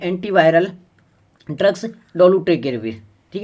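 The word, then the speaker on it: Dolutegravir: ये एक दवाई है, इसका प्रोनाउंसिएशन आप देखना, डोलूटेगेविर इसका नाम है।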